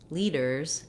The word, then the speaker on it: leaders: t or letters tt in the middle of words we pronounce these sounds as a flap so even though in